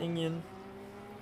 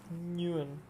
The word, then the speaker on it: Nguyen: Trafilio and oh man, Enyon. I'm gonna say his name different every single time. It's not Inyan. It's Nguyen.